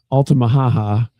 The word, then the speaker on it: Altamaha-ha: So there's got to be something to it in my mind, I'm gonna put it back on our Altie, Altamaha-ha, which to me sounds like Woody Woodpecker.